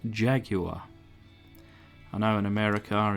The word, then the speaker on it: Jaguar: Notice I pronounce Jaguar. I know in America it's Jaguar. But in Old Blighty we pronounce it Jaguar.